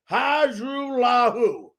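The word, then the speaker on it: Hajrullahu: Hajrulahu. That's right. That's how you pronounce it.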